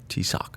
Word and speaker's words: TSSOC: Say it for me, Juan. T-Sock. TSOC. T-Sock. TSOC, is that how you say it?